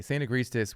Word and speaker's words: Saint Agrestis: And of course, I can never pronounce the name, Saint Agrestis. You got it. Okay, Saint Agrestis with their phony Negroni.